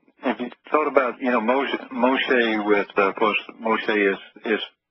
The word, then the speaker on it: Moshe: they they did say his name right as Moshe uh but they never did bother to explain